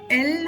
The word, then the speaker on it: ൽ: എൻ ഇന്ന് മൂന്നാമത്തെ ചില്ലക്ഷരമായ എൽ ആണ് പഠിക്കുന്നത് എൽ നമ്മൾ പഠിക്കുന്ന മൂന്നാമത്തെ ചില്ലക്ഷരമാണ് എൽ ഇംഗ്ലീഷിലെ എൽ എന്ന അക്ഷരത്തിന്റെ അതേ ഉച്ചാരണം തന്നെയാണ് മലയാളം ചിലക്ഷരമായ എൽ എന്ന അക്ഷരത്തിലും ഉള്ളത് നമുക്ക് എൽ എന്ന അക്ഷരം